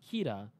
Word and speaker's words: Kira: don't need it doesn't it is literally just how they would pronounce the word killer that's how it's explained in the book and in anime their accent comes out Keita because there are no letter ELLs in Japanese interesting all their elves